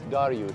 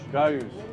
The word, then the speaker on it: Dariush: His name is Dariush. Dariush. You know, Dariush is the Persian pronunciation for Darius.